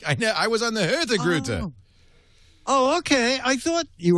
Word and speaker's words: Hurtigruten: It's spelled Hurtigruten, which means the fast route. Hurtigruten. But it's not pronounced as it's spelled. It's pronounced Hurtigrute.